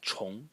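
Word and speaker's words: 虫: semantic element is only this part, which is pronounced chong, and is an insect.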